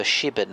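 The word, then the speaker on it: Shipbourne: you play hmm yeah I play for shiben which is a little village yep so it's it's spelled ship born but it's just outside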